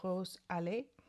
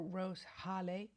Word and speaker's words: Rose Allée: This little guy, the Hermès Plein Air in number 10, Rose Allée, or Rose Halley, but I think it's pronounced Rose Allée.